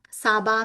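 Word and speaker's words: サーバー: Saba means server, which is Japanese, but in Japanese it's pronounced as saba.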